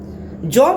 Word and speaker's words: Jean: तो जॉन Paul सार्त्रे, जो हमने पहले बताया था, जीन होता है JEAN, जीन इंग्लिश में कहेंगे जीन जैक्स रूसो, लेकिन जब हम फ्रेंच भाषा में इसको प्रोनाउंस करेंगे तो उसको जॉन बनता है, जॉन, है ना।